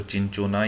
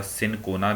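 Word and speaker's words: Cinchona: तो आपकी कई बार इसको चिंचोना या सिनकोना भी पढ़ा जाता है, दोनों ही प्रोनाउंसिएशन इसकी की जाती हैं।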